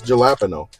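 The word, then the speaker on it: jalapeño: And we're fully aware that we're saying it correctly. It's jalapeno. Jalapeno.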